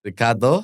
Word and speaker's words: Ricardo: Ricardo Hey Ricardo you got to get that roll like that.